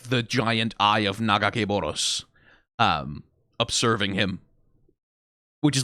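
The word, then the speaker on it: Nagakabouros: Well, the pronunciation of that name, by the way, everyone has their own one. I have my own one. I believe it's Nagakeboros, as it was pronounced in, like, the Ruined King game, at least.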